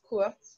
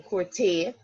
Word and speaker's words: court: But you're not going to use court. The only time you pronounce the T is because an E follows it. We're not saying courté, right? We only go up with the pronunciation of the E.